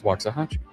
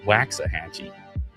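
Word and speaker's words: Waxahachie: Some of my Texan friends were trying to get me to mispronounce Waxahi. No, it's Wahachchi. Not Waxahhatchee. Waxahi.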